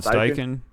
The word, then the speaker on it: Steichen: Sean Steichen.